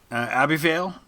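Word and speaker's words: Ebbw Vale: from nearby it was a B Vale Minoo if I'm pronouncing that right it's EB BW v-a-l-e it was the name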